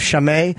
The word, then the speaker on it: Chimay: And the tour name has been, I've been pronouncing it wrong. It's Mouthful of Chimay, and it will be this Friday.